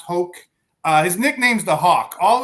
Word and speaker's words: Hauck: It's pronounced Hoke.